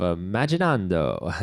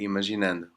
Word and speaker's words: Imaginando: with Nuno Santos of imagine on Doha nice I think I said it wrong already how do you say that yeah let's say imagine n imagine n ok so it's I